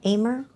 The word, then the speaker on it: Amur: Louis Zoo just welcomed 2 adorable and critically endangered, how do you say Amur, AMUR leopard. Lemur. No, it's it's Amur.